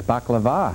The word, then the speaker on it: baklava: And I see one of my favorite desserts, baklava.